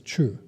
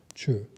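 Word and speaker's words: ཆོས: The Tibetan translators decided to translate this as chu. Written C-H-O-S, so the S is silent, chu.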